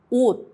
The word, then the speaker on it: 옷: 디귿, 티읕, 시옷, 지읒, 치읓 becomes a soft T. Example, 낮, daytime, 옷, clothes. Don't release the sound, just stop it with your tongue.